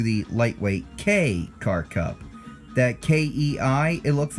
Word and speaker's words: Kei: lightweight k-car cup that Kei it looks like it's supposed to be pronounced tea well bear in mind it will be K like the letter K the e axe is